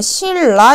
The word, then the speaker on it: 신라: 자, 그럼 얘 발음할 때 우리 어떻게 발음하냐면 실라 이렇게 발음하지.